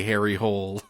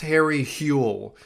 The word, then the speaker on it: Harry Hole: I thought we would make it through at least a few minutes without having to say Harry Hole. It's pronounced Harry Hule, I believe, in Norwegian.